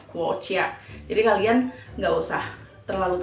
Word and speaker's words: 国家: Jadi G itu dibacanya K ya, guoqia.